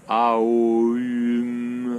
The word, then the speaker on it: Om: Il faut essayer de le penser Aum, Aum, en commençant par le A pour ouvrir.